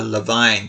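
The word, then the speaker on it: Levain: I think it's actually pronounced the Levine Cup.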